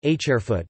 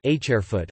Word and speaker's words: ḧeft: Thus the word heft, heft, 7, hairfoot can be pronounced as either hairfoot or hairfoot, and zirab, zirab, stranger, re-b, as either x re-b or re-b.